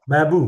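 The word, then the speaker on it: بابُ: Bab dibacanya bab atau babu, Ustaz? Ini babu.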